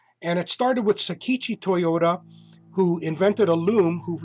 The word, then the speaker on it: Toyoda: And it started with Sakichi Toyoda, who invented a loom, who later sold it, made enough money for Kichiro Toyoda, and Toyota is spelled T-O-Y-O-D-A.